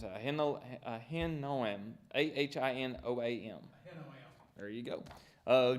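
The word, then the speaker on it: Ahinoam: him all right Mr Lloyd how do you pronounce it I handle a hen know him a-h-i-n-o-a-m there you go uh Jezreel I'm a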